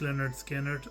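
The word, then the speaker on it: Lynyrd Skynyrd: Leonard Skinnard, pronounced Leonard Skinnard.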